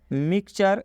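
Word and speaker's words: mixture: यहाँ पर टी के बाद यू आर ई है, इसलिए टी का उच्चारण च हुआ है। मतलब कि टी यू आर ई को चर पढ़ेंगे। यहाँ तक तो आपको बात समझ में आ गया होगा।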